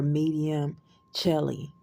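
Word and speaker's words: Medium Coeli: your MC sign or your medium Chelly is how it's pronounced now as a disclaimer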